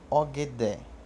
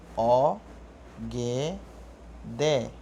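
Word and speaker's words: ogẹ̀dẹ̀: ver exemplos exemplo ogé ogd quer dizer banana o g d não é ogd é og D banana é Poá éa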